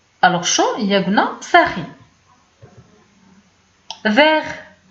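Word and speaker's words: vert: فيغ كتعني اخضر، ديك التي ما كتبانش في النطق.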